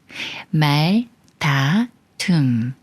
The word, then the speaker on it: 말다툼: 말이 꾸며주는 말이고이 꾸며주는 말에 리을 받침이 디귿을 만나지만 예외라 쌍디 말 다툼 말다툼 예문 읽어 볼게요